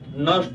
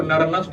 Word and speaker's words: Nernst: तीसरा है NERNST, N silent होता है, नर्स्ट इक्वेशन कहते हैं इसको, ठीक है। अब इसको नर्नस्ट इक्वेशन मत पढ़िएगा, कभी भी बच्चे आते